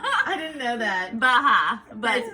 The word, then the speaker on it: Baja: I don't think the J is actually supposed to be pronounced. I think you're right. I didn't know that. Baja, but It's whatever.